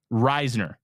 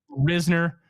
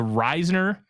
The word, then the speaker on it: Risner: Reisner can do now it is pronounced Reisner not really Reasoner they um they confirmed it it is a Risner okay those at the press conference did confirm that that was the pronunciation he's really excited to